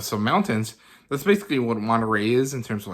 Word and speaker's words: Monterrey: So I went to Monterrey, or Monterrey, actually, that's how you say it, which is the largest city in Nuevo León.